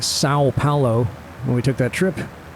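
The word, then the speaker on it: São Paulo: pronouncing that correctly, and he said you say the O part like sound, kind of nasally. It's not Sao Paulo, it's Sao Paulo, according to him.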